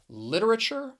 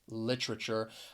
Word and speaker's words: literature: with this word is that t-u-r-e at the end it's going to be pronounced as chur so you could say either one literature or literature i think probably the